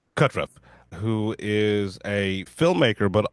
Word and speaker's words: Kutruff: I am joined here today by a very very special guest uh Robert Kurtriff. Uh am I pronouncing that correctly? It's Katruff. Katruff, who is a filmmaker, but also a a a veteran who's got many many accolades.